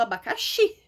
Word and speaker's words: abacaxi: Por exemplo, eu tinha falado do abacaxi. Abacaxi. O xi é a sílaba tônica.